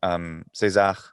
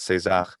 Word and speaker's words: Caesar: For example, saying César, even in Latin, even pronouncing Caesar as César was just the way to do it for hundreds of years. And there's nothing wrong with it at all.